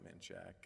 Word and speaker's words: Menchaca: faith, I do think Menchaca whichever way you wish to pronounce it. Those who lived in Austin might call it Manchac, and those who haven't